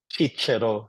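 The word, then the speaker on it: Cicero: will include speeches of cisero chichero if you want to pronounce it hardly to Latin or the poems of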